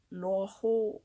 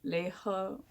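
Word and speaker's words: 賴和: This is the complete fiction of Lōa Hô or Lē Hē, depending on how you pronounce it, or Lai He.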